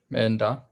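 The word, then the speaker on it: མེ་མདའ: So because da is a palatal, it makes an N sound between them. That's it. So either one of you pronounced this correctly. Menda?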